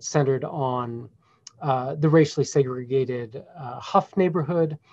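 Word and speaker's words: Hough: And in Cleveland, the riot centered on the racially segregated Huff neighborhood, it's spelled H-O-U-G-H, pronounced Huff, which at the time of the riots was, quote, one of the nation's most economically depressed African-American communities.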